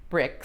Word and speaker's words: Brix: BRIX. Oh, there might be. Well, like Grand Prix, for example, the IX in French is pronounced like a long E. Okay. But it really is BRIX.